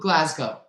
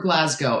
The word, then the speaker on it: Glasgow: clothes in moscow or glasgow i learned that in social studies so that goes back a long time there are no cows in glasgow or moscow it's not moscow it's not glasgow i'm trying to remember how